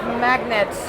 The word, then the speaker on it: MAGNiTT: he's the founder of magnets and it's not quite spelled like the magnet but it works the same way so you remember the